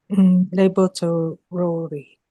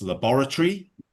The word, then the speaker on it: laboratory: You may hear it pronounced in different ways depending on the part of the world that someone is saying it.